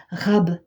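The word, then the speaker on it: רב: Et c'est facile à retenir comment ça s'écrit abondance, comment ça se dit abondance en hébreu, parce que ça se dit rab, comme quand on en veut un peu plus.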